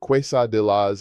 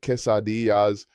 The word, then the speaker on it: quesadillas: I cringe every time I hear an American ask for quesadillas instead of quesadillas or say gracias instead of gracias.